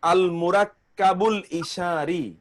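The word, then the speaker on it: المركب الإشاري: ও আচ্ছা আচ্ছা আচ্ছা উচ্চারণ হলো আল মুরাক্কা আল মুরাক্কাবুল ইশারি যেমন না বুঝতে পারি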